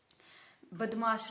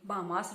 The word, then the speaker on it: BODMAS: इस रूल के अकॉर्डिंग क्या होता है, बदमाश रूल, बामास रूल भी बोलते हैं कई इसको। इसकी प्रोनाउंसिएशन हर किसी के अकॉर्डिंग अलग है, लेकिन मैं इसे बदमाश रूल ही बोलती हूँ।